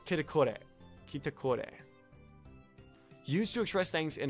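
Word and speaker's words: キタコレ: Used to express things in accordance with their own expectations of the development of the excitement, sometimes omitted as KTKR and pronounced as kitakore.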